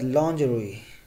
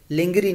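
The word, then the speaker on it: lingerie: उसके बाद लॉन्जरोई, लॉन्जरोई, इसको लिंगरी नहीं बल्कि लॉन्जरोई। कूपन, कूपन दुरुस्त प्रोनाउंसिएशन है, कूपन नहीं कहना है इसको, कूपन।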